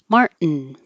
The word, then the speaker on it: Martin: The same thing happens with Martin. Mart, tongue goes up. Martin.